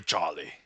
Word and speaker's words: Charlie: Sorry for Charlie. I have to pronounce it as though it's spelled C H O L L Y.